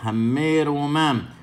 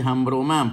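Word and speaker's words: הַמְרוֹמָם: Ha'ares kenyaneja, hammelech, hammeromam. No se dice hambromam. ¿Por qué? Porque tenemos una sheva bajo una letra que tiene un dagesh.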